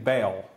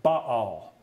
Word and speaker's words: Baal: And I know that you're used to saying Baal here, but my Hebrew professor taught me very well. He taught me better. He said, look, the way you pronounce it is Baal.